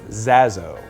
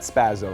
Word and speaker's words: Zaso: It's Zaso. Zaso. Not Zaso, Zaso, and there's Z-A-S-O, not 3 Z's, 3 S's. It's Zaso. Zaso. And not Spazzo, like they used to